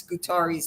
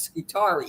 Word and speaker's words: Scutari: So the proper way to pronounce Scutari's name is the way it's Scutari. It's not Scutari. Yeah. That's Southern Jersey kind of.